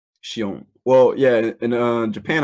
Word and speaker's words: Shion: my stay is it is your name pronounced Shion yeah she own well yeah you know